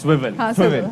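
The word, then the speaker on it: Swvl: नहीं, आपने बिल्कुल सही प्रोनाउंस करा है। ऑल्दो पहली दफा आई थिंक हमने मिक्स करा है, पर बिल्कुल सही प्रोनाउंस करा है। इट्स स्विवल।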